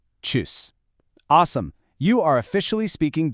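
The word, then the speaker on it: Tschüss: And finally, the casual way to say bye is choose. Notice that ooh with the umlot right there in the middle. It's pronounced choose.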